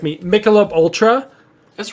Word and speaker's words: Michelob: just pound it no no uh I'm gonna butcher the name I always say it wrong and Knight has to correct me Michelob Ultra that's right that's correct that's so good